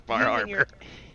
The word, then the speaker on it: Bar Harbor: you pronounce that one we going to say Bar Harbor but I bet bear Harbor Baba we don't use ours here the state of Maine yes bar haror you are people we don't use ours